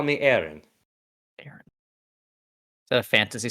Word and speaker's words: Eren: You may call me Aaron.